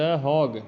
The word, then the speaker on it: Hague: City of international court जहाँ पे है, कोर्ट ऑफ जस्टिस, उसको कहते हैं द हॉग।